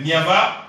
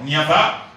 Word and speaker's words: Niava: Donc mon nom c'est l'évêque Niava ou le prophète Niava. Donc Niava s'écrit avec N-I-A-V-A.